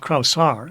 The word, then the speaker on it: Kraushaar: So then our next president who's immured on campus is Otto Kraushaar, Kraushaar is the way it's pronounced. I was corrected.